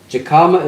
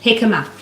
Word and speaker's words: jicama: Becky says jicama is usually sold at Asian grocery stores. Jicama. Well, it's spelled with a J.